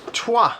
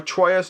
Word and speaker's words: Troyes: Trois, or Troyes, Trois. It looks like Troyes. I always say Trois because I think that's the correct pronunciation, but then people don't